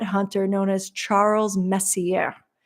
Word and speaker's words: Messier: known as is Charles Messier anyone French out there I know pronounced the r a little bit differently but Charles Messier and he actually coined